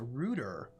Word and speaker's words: router: when you know that in England this is pronounced a ruder and solder is pronounced